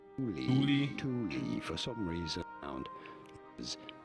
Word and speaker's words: Thule: It is to be said, Thule brand from Sweden. Thule for some reason found is Thule with Fucking trash video.